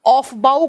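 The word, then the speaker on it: Aufbau: जिन scientist का नाम है बड़ा ही अजीब सा स्पेलिंग है। ए यू एफ और डैश लगा के बी ए यू लिखा जाता है। ऑफबाऊ का सिद्धांत बोलते हैं इनको। ऑफबाऊ का सिद्धांत बोलते हैं हम।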